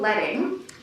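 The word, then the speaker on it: leading: block by the way it's called letting because these were actual pieces of lead so it's spelled l-e-a-d-i-n-g that were placed between the uh the type when they were doing the letter press kind of printing so that's where letting comes from it was actual strips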